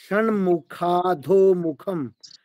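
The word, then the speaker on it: षण्मुखाधोमुखम्: षण्मुखादोमुखं चैव ड नहीं बोलना है, ड नहीं बोलना है।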